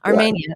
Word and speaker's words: Armenia: The same thing, the Italian pronunciation, Armenia, excuse me, from C21.